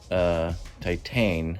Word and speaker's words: Titane: The majority of the movie calms down, but the movie is called Titane. I believe that's the pronunciation, sort of like titanium.